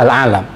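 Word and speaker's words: العالَم: ibarat kematian dunia alalam hurufnya sama Alif Lam Ain alif lam mim Tapi bacanya yang beda satu alalim yang kedua alalam eh bagi dunia pernaskahan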